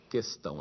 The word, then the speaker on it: questão: acordo com os funcionários não existe trema nessa palavra portanto e se unam deve ser lido questão é fato também que